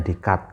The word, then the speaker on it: Descartes: namanya Rene dec Eh kalau tulisannya itu Descartes itu loh tapi kalau orang Eropa e apa bacanya dikut gitu ya Nah redikat lalu